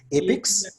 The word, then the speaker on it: APICS: It's spelled as APICS, APIX.